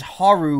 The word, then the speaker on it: HAL: menace oh 86 is haru which is the phonetic pronunciation of hal in japanese wow that's actually interesting